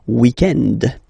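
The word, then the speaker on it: week-end: weekend okay but then pronounce it the French way weekend the weekend okay but then in other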